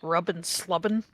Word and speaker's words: Rubbin Slubbin: Sees one of our red mages named Rubbin Slubbin. Rubbin Slubbin is a pretty good name That's for a red mage. That's spelled RUBN SLUBN.